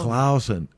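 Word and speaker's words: Claussen: It is Clausen Pickles. It's just spelled with a U. You shut your mouth. Clausen.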